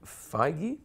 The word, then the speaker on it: Feige: So, Kevin Feige, that's how you pronounce it, so, right? yeah. Feige. Feige.